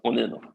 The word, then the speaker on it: Onino: So like onion, but Onino.